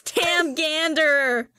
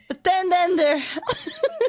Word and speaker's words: Tam Gandr: It's Tam Gander.